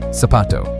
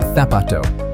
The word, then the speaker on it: zapato: In Latin America, the word for shoe, zapato, sounds just like it starts with an s, sapato. But in a lot of Spain, they use a th sound, so it comes out like thapato.